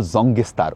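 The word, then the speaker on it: Sangetsar: এখানে দেখুন লেখা রয়েছে ওয়েলকাম টু সুঙ্গাতসের এখানে আবার এরকম স্পেলিং সাঙ্গে স্যার সাঙ্গেসতার সুঙ্গাতসের বা আমাদের ড্রাইভার বলল জঙ্গেসতার ওরা লোকালি এটাই উচ্চারণ করে।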